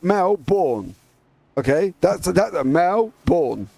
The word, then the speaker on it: Melbourne: it's born born identity born is on the end of born and then you got Mel so you got Mel born okay that's that male